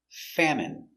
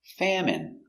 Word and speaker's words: famine: famine in their country pronunciation famine f a fa M fam it fam m famine famine stress on the first syllable famine it's countable a